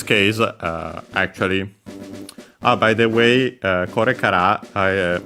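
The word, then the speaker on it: これから: Yeah, so in this case, actually, by the way, korekara, maybe I haven't mentioned that before, is technically accent on the ra itself. So yeah, on the last, on the ra of the kara.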